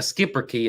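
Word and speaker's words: Schipperke: a skipper key yeah I'm not sure how you exactly say that that is how you say it okay a skipper key it's not how it's spelled yes and I had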